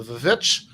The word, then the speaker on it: VVitch: these people are here to talk about the vovich but um and it has veiled the pronunciation too that's the correct way to say